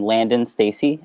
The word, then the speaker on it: Landen Stacy: name and what are your pronouns so you pronounce my name landon stacy and my pronouns are he him okay perfect